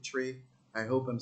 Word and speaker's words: Twi: I think they spell it TWI, but they pronounce it Tree.